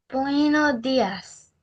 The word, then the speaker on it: buenos días: How do you pronounce it? Yeah. Buenos días.